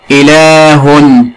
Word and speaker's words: إله: إله ممتاز، بها حرف ينطق ولا يكتب. إله، لاحظ النطق ولكن لا نكتبه.